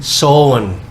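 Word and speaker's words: Samhain: Si Sam Hain. Sam Hain. How do you pronounce the... Sowan. Pero the spelling is Sam Hain.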